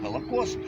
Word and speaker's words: Холокост: Там употребляется вот этот термин «Холокост», ну, у нас выговор белорусский, мы латинское это «аш» произносим как «г», да, я говорю «Холокост», так.